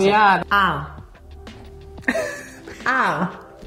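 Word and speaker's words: Ahr: Ah. Ah. It's basically one long A. Ah. With a little R in the end.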